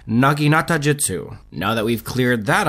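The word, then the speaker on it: naginatajutsu: And after a quick Google search, I can confirm that the correct pronunciation is in fact Naginata Jutsu.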